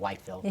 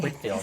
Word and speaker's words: Whitfield: I can't call it Whitefield. Whitfield. That's how it's spelled.